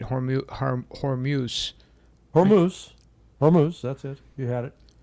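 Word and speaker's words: Hormuz: Horu Hormuse Hormuse Hormuse that's it.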